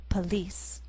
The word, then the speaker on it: police: In the second word we have two syllables, and the first one has the vowel sound P. Second syllable has the vowel sound E, police.